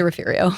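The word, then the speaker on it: Refugio: But the locals say Rafiario.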